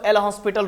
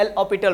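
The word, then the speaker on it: L'Hôpital: एल ऑ पिटल rule बहुत कोई इसको एल हॉस्पिटल रूल पढ़ते हैं लेकिन ये उच्चारण प्रोनाउंस गलत है इसको क्या पढ़ते हैं एल ऑस्पिटल रूल जैसे कभी आपको मालूम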